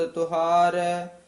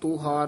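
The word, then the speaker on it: ਤੋਹਾਰ: सवारिया मैं आही ओड तोहार तोहार ककड़ नाल उच्चारण करना तुहार नहीं बोलना छ बोलना तोहार नानक बहारिया गुर का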